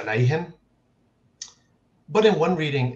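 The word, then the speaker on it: عليهم: the word upon them in most reading traditions that's pronounced as alaihim but in one reading it's pronounced alaijum and in another one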